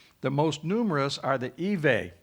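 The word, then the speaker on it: Ewe: most numerous are the evei that's spelled like you but it's evey they make up about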